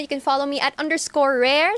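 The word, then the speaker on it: Raire: You can follow me at _rare, spelled as R-A-I-R-E. Ayan po. Hindi ba mahirapan sila doon? Parang nahirapan ako doon na R-A-I-R-E. Rare. Rare. Opo, ayun nga po yung rare. So parang pronunciation. rare lang siya.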